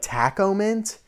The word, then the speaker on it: Tach-O-Mint: according to the masses i think it's supposed to be like taco mint because it's supposed to be a play on like a tachometer in a car again i've told you